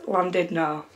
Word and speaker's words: Llandudno: I really don't know obviously it's Welsh so when Welsh people say it it actually sounds completely different but when I Googled it the translation or the pronunciation should I say was landed no so I'm gonna guess